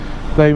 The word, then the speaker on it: Ye: to be called Ye, well, it's pronounced the White Hart, so it's now just called White Hart.